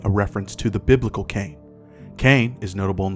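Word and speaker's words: Caine: be documented nonetheless also while phonetically the name is similar to the biblical cane this cane is spelled c a i n e another feature of can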